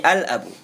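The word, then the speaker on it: الأب: Di situ bukan abu bacanya. Tapi al-abu.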